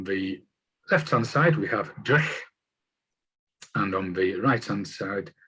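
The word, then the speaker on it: dreich: Is that how you say it? D-R-E-I-C-H, as in duff weather.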